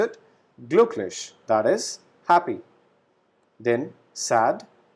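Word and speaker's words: glücklich: as u very similar to english so we pronounce it gluch that is happy then sad traverse beautiful huge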